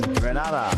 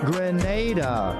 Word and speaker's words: Grenada: are in Granada, but I heard in English it's called Grenada. Say it right. Grenada. Say it right. Grenada. That's right. It's not granada.